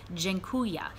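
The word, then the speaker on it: dziękuję: in to town and it's pronounced gen Kuya and I'm going to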